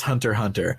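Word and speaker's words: Hunter × Hunter: fiction oh my god oh it's pronounced Hunter Hunter but yeah I think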